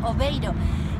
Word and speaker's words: Aveiro: me encuentro en airo ellos lo pronuncian oveiro es la ciudad la